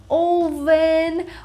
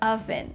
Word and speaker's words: oven: You see the word oven, you make sure you know how to pronounce it correctly because a lot of people say something like oven or oven, but not oven.